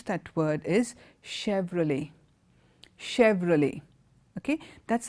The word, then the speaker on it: Chevrolet: itself is complicated as CH e V R o le T it's like a French name but as an American brand and the name of that and how you pronounce that word is Chevrolet Chevrolet okay that's how